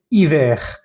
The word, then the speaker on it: hiver: Hay que pronunciar bien la E y la R.